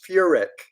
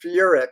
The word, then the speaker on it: Furek: And Michelle, thank you for pronouncing it correctly as Furek. And Wade, it's Furek. So Furek.